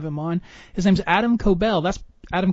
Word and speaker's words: Koebel: His name's Adam Koebel. That's Adam Koebel, right? That's how you pronounce it? Close. It's Koebel, kind of like kobold.